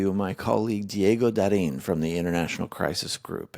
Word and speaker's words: Diego Da Rin: Diego Da Rin.